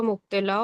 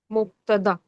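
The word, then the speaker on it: مبتدأ: जब मैं थोड़ा शायद सुन नहीं पा रहा हूँ, इस वर्ड को आप थोड़ा गलत प्रोनाउंसिएट कर रही हैं शायद, एक बार फिर से बोलिएगा। मुब्तदा।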